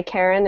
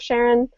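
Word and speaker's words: Charon: recently like understanding the reasons why Karen is a possibility but I did understand from the press press briefings yesterday that the discoverer of Sharon pronounces it Sharon or something like that so so I'm going to go with whatever he says and maybe complain about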